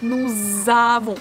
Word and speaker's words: nous avons: In nous, we usually don't pronounce S. But if the next word begins with a vowel, we have to read this as like z. Nous avons.